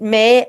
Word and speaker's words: Mai: It May as the month of May, but it's spelled MAI.